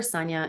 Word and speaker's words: Sanja: often at Sonia nja or Sonia is also how you pronounce my name in Croatian and Bosnian and um also my